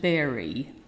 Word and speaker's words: bury: kill the dog and bury his hands in the warm body notice be you are wife is pronounced berry not brewery berry until the numbness went